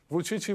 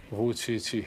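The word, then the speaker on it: Vučić: called 577 because yes, the pronunciation of your name, Vucici. Vucici, Yes, right, actually is the same with the numeral pronunciation of Chinese.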